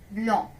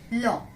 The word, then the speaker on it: blanc: White, blanc, white, blanc. Though it has C in the end of spelling, but we will not pronounce C.